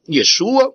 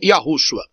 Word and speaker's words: Yeshua: Então, o nome do Salvador, Yeshua, outras ramificações acreditam que a pronúncia seja Yahushua.